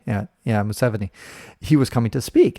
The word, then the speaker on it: Museveni: And the president, Museveni or whatever that guy said, how do you pronounce his name? Museveni. Yeah, Museveni.